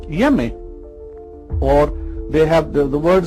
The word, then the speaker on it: Onyeme: These Ashanti people, they identify their Almighty Creator as someone called Yeme, or they have the word spelled is N-N-Y-E-M-E, O-N-Y-E-M-E, Onyeme, but they don't pronounce the O and the N.